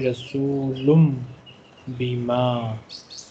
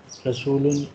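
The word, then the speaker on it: رسولٌ بما: Then this noon with sukun or tanween will change into meme. Just like here, they have written a very small meme. So we say Rasulum Bima.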